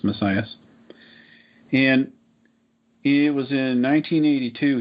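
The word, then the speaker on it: Masias: His last name is spelled M-A-S-I-A-S. I think it's pronounced Messias.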